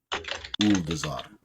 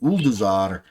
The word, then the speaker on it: Ulduzar: And to utterly destroy, if possible, Uldazar.